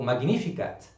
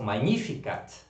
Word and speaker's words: Magnificat: você não falar que nossa senhora disse o magnífica mas o magnificat certo e assim nós vamos aprender a pronunciar sempre acho cada vez melhor pelas orações